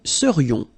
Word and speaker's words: serions: So then, final S not pronounced, and then this is this yon, yon, remember, it goes in your nose, it's nasal, yon, nous serions.